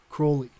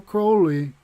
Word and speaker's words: Crowley: some somebody said it crowley rhymes with holy so it'd be like crowley whatever dude that's how